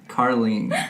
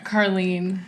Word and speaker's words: Karleen: curly and I didn't even ask am i pronouncing your name grab your Harley that's so close really Carlene Carlene yes I can't put an L in there